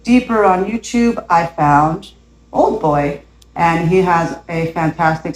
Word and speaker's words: Auldboy: And my journey led me to this really cool content creator called Old Boy. It's spelled AULDBOY. I guess with the accent, that is old boy.